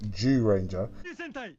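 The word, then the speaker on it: Zyuranger: And so that season of Mighty Morphin, the first 3 seasons, is actually called Zyu Ranger, or as some might pronounce it, Jew Ranger.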